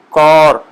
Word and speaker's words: کور: تو اس کو جب پڑھیں گے، کور نہ پڑھیں اس کو، تو آپ پڑھیں کور، کاف پر زبر ڈال کے او، او کی آواز